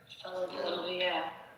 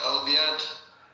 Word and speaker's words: Olivier: Olivia. I said Olivier. Olivier, that's right. Olivier. Alright, I'm gonna say it right from now on. Olivier. No, there's not D at the end. It's just Olivier.